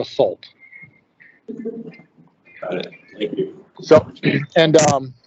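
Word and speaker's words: Sulte: last name so it's it's pronounced salt so it's s-u-l-t-e and if you just drop the e it's like salt but with a u so salt got it so and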